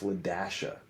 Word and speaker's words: LaDasha: and was like, it's LaDasha, like you pronounce the dash, La-dash-a.